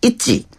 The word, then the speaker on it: 있지: 그룹명이 ITGI, 있지. 맞아요? 네, 있지라고 읽으시면 되고요. 트와이스 이후에 4년 만에 새로운